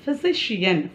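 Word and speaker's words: physician: அடுத்தது பாருங்கள், ஃபிசிஷியன் ஃபிசிஷியன் பிஹெச்ஒய் ஃபி சிஎஸ்ஐசி ஷியன் சிஐஏஎன் ஃபிசிஷியன், ஓகேங்களா, ஃபிசிஷியன் அதுக்கும் அந்த ஷ அப்படிங்கிற உச்சரிப்பில் வருது.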